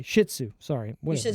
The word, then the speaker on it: Shih Tzu: What did I pronounce that? say? Shih Tzu. Sorry. You Whatever. said Shinzu.